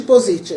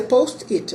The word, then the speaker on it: Post-it: que aquele post que muita gente chama de positiva né mas a pergunta a pronúncia em inglês é post-it né mas ficou opposite